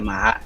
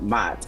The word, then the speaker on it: Ma'at: That's what I know the Ma'at to be, and that's what they call it, the Ma'at, not Mat. And then but I guess it is pronounced that if you run it together, and then they have